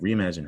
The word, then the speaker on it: reimagine: In fact, Reimagine has a silent E, but it's not going to say ein. Listen, reimagine, it actually sounds like in still.